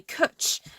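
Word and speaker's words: cwtch: place oh you were just wondering oh sorry cutch is Welsh for it's like hug but it's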